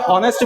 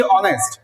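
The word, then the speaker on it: honest: এখানে দেখো, যদিও বাক্যটার মধ্যে এইচ ও এন ই এস টি বলতে লিখতেছি আমরা, কিন্তু উচ্চারণের সময় কিন্তু আমরা হনেস্ট বলতেছি না, আমরা বলতেছি কি অনেস্ট।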